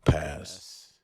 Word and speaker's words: past: in some consonant clusters for instance past is pronounced pass and hand becomes yeah